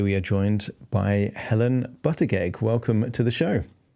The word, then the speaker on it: Buttigieg: hypnotist and today we are joined by Helen Butterg. Welcome to the show. Thank you, Adam. Nice pronunciation there.